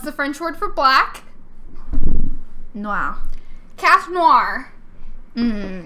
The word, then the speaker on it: noir: Noir. Cat noir. You do not pronounce the R, but okay.